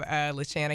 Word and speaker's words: LaShanna: LaShanna.